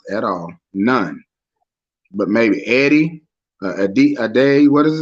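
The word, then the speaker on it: Edey: But maybe Eddie, Ade, what is his name? Eddie, how you pronounce it? Whatever, from Purdue. Edie, that's it.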